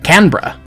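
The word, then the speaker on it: Canberra: Today's adventure was a set of excursions out of Australia's capital, Canra. Yes, that's how it's pronounced.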